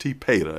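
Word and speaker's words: TPATA: I think it's pronounced T-PATA, if I'm pretty close to saying it right.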